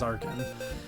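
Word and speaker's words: Archen: until the last second arkhan was going to be on my team arjun whatever however you prefer to pronounce it but i'm pretty sure the correct way is arkhan uh it's gonna be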